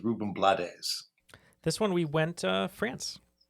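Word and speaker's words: Rubén Blades: So the next one is usually said Ruben Blades, but I think the actual pronunciation is Ruben Blades.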